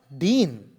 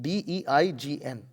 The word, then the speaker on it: deign: Thus, he will not deign. What does that mean? D-E-I-G-N.